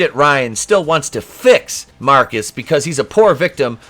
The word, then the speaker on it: Marquis: is callously murdered by marquise pronounced marcus because he's [ __